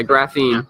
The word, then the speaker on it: graphene: What is graphene blockchain technology? Did I pronounce it right? Yeah, graphene.